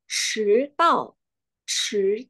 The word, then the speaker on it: 迟到: Nah, itulah kenapa pengucapan dan nada dalam bahasa Mandarin itu sangat mempengaruhi arti dari kata yang kita ucapkan.